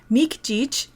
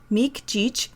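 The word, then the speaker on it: mikjikj: in lakes and ponds Meek G that's how you say turtle and migma do you want to try it Meek G good job it's not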